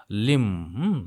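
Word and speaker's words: limb: से देख रहे हो लिम बी को साइलेंट रखना है तो ये यहां पे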